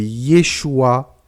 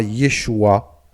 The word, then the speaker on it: Yeshua: Yeshua est la contraction de Yehoshua. Malgré que cela s'écrit presque de la même manière, Yeshua et Yehoshua sont totalement différents.